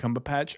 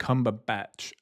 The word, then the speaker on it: Cumberbatch: But yeah, it's I swear I always heard it was Benedict Cumberpatch, and then like I literally like after that freak out, and it was so weird because like the guy fully pronounced it. He went Benedict Cumberbatch, and I'm like, that's so pooping in my ears. It's so wrong.